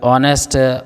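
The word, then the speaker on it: honest: एन यह ऑनेस्ट hours इस तरीके से ऑनर्स इस तरीके से एच जो साइलेंट होगा और यहां से पढ़ते हैं।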